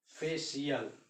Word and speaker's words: facial: सी के बाद अगर आई ए एक साथ है, ठीक है, तो सी का उच्चारण ये तालाबी श हो जाता है। जैसे जाना पहचाना वर्ड लिखते हैं, FACIAL, फेशियल आ गया ना, फेशियल,